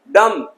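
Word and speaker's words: dumb: डम, डम्ब नहीं, डम, गूंगा।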